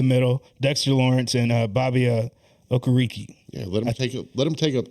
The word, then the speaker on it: Okereke: I think Dexter Lawrence would be there, and also I like Bobby Ariki. Yeah. Or Okereke. I'm sorry, Okereke. I didn't know how you pronounce that.